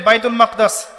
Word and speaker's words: বাইতুল মাকদিস: বাইতুল মাকদাস এটা কোথায় বাইতুল মাকদিস সরি বাইতুল মাকদাস না বাইতুল মাকদিস বিভিন্ন মানুষ বিভিন্ন উচ্চারণ